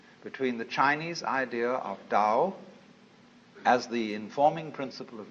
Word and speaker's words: Tao: the da ta AO pronounced Dao in the Mandarin dialect Tao in the changhai dialect toe in the Cantonese dialect